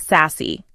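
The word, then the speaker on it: SASE: The solution is a secure access service edge, SACE, pronounced sassy.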